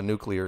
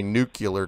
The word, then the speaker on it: nuclear: you can simulate a nuclear explosion I'm trying by the way not to say nucular because the Americans completely screwed up that pronunciation yeah what's the